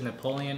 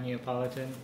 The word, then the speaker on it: Neapolitan: Singapore let's try some did any of you guys when you were younger think it was Napoleon ice cream not neopolitan no I always knew as neol I definitely pronounce Napoleon okay I think I